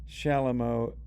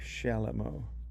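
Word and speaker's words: chalumeau: Shalomo is spelled c h a l u m au. Shalamo.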